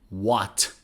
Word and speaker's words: what: example the question word what what so we don't say what no it's h is not pronounced what what are you